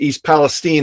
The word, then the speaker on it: East Palestine: uh yeah you correct it it's always been pronounced East Palestine as far as I know okay um but